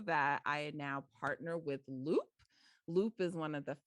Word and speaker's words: Loupe: Loop is spelled, it's tricky, guys, LOUPE.